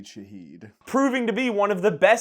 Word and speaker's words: Shaheed: Rashid, how do you pronounce his last name? Rashid Shaheed.